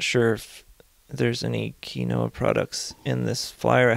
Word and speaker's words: quinoa: It was pointed out to me that I was pronouncing this one product or this one ingredient as quinoa. That's how I was saying it. I was told that that was wrong, and I believe it is quinoa.